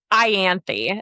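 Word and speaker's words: Ianthe: Her name is her. Ianthy is her name. Ianthy. Okay. That's what I thought. That is that is my first No. Ianthy.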